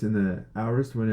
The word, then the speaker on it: aorist: I don't know how people pronounce it in their different place, but over here it's aorist.